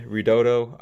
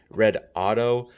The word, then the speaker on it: Redodo: the battery uh brand ridotto I'm not sure why it's called that uh some some other YouTubers have mentioned that it's pronounced red Auto uh maybe it might